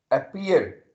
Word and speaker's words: appear: Stress, appear. Okay, try to say it under lips. Appear, appear. You will feel as the letter P is being stressed.